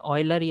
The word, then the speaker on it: Euler: উনি কি করছে অয়েলার অনেকে অয়েলার বলে অয়েলারই আসলে উচ্চারণ মনে হয় অয়েলার তো উনি কি